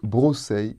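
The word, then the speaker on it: βρώσει: Dans le passage de Colossiens 2,16, ils sont au datif et se prononcent brosei et posei.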